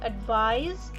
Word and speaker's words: advise: advice and the verb advise ends with sc and that is pronounced with a za sound as in advice by